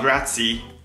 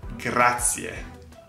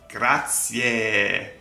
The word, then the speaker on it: grazie: gracias, that's Spanish, not grazie, that's wrong, but grazie, grazie, grazie, grazie, or grazie mille, but always grazie. Please pronounce that E, it's an E.